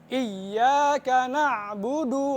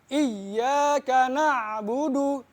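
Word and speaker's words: إِيَّاكَ نَعْبُدُ: Nah, di dalam ayat kelima banyak juga yang salah di bacaan iyyaka na'budu. Biasanya bacanya iyyaka na'budu, kagak ada tasjidnya bacaan jadi salah.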